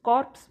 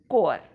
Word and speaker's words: corps: पण इथे जे कोर आहे त्याचं स्पेलिंग लक्षात घ्या. CORE असं नसून ते आहे CORPS. कॉर्प्स ऐवजी त्याचा उच्चार केला जातो कोअर.